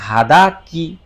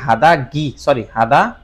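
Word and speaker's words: 肌着: এবং এই শব্দটার অর্থ হচ্ছে, এটা আগে উচ্চারণটা খেয়াল করেন, হাদা কি, শব্দটা কি হাদা গি, হাদা মানে হচ্ছে চামড়া,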